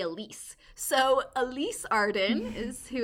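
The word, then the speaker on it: Alys: girls and the author her first name is spelled a-l-y-s and so i don't know if it's pronounced elise or alice then i'm gonna say elise so elise arden is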